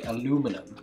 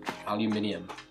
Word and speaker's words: aluminium: some kitchen foil or the americans say aluminum aluminium that's the correct way to say it i've got uh three